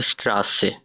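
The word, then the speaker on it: Straße: Next ওয়ার্ডটা asset দিয়ে আমরা এখানে লিখছি, এটা হলো স্ট্রাসে, অর্থ রাস্তা। উচ্চারণটা দেখি, এস টি এল আ এসেট এ, স্ট্রাসে। এসেটের উচ্চারণ নিচে হয় ডাবল এস এর মতো, তো আমরা জানি, যার কারণে স্ট্রাসে এভাবে লেখা হয়, এবং এটার অর্থ রাস্তা।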